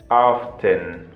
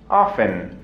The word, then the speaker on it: often: 70% le vamos a dar a el adverbio often o también pronunciado often, ¿ok? Repite, often o pronunciado también often, ¿ok? Cualquiera de las dos formas es correcta.